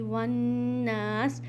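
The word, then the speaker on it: وَالنَّاسِ: मिनल जिन्नती वन्नास। Again वाव के बाद अलिफ हमज़तुल वसल साइलेंट अलिफ, तो आपने यहाँ पर वाव को नून में मिलाना है।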